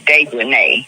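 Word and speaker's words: Dejanae: Her name is Dejanay. Yeah, that's it. It's Dejanay because it's got A-E on the end.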